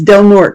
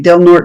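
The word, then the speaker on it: Del Norte: And it's Delnor. We say Delnor because it's the Portuguese pronunciation, not the Spanish.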